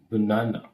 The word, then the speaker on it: banana: You cannot say banana. You simply say banana. Okay, here we have stress. That is stress mark. Don't say banana. Simply say banana. Banana. The second syllable is stressed.